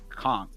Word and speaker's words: conch: I'm having uh uh I guess conchk chowder or whatever, he's like, "Oh, it's the best conch in Florida." And she says, "Conch, it's pronounced conchk."